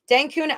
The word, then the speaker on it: Dencun: it right finally because I was saying dun but it's Den like raccoon Den denune upgrade ethereum has already happened